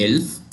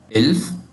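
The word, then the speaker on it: elf: 11 हमारे पास है इल्फ। इल्फ 11 इल्फ और जो 12 है 12 है ज़ोल्फ।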